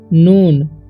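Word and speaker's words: known: ठीक है, इट is also, ठीक है, नोन, इसे करोन नहीं पढ़ना है, के जो है यहाँ पर साइलेंट है तो इसे पढ़ेंगे हम नोन।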